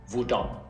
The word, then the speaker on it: hvordan: And with all these question words starting with HV, we don't pronounce the H. We write it, but we don't say it. So we say hvor, hva, hvem, hvorfor, når, hvor gammel, hvordan.